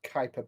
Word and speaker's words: Kuiper: Which dwarf planet was the first Kuiper Belt object to be discovered in 1930?